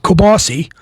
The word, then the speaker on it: kielbasa: Me personally, I'm going to do kielbasa and sauerkraut. Or wait a minute, I got to pronounce it the Pennsylvania way, kielbasi and sauerkraut. And I got my kielbasi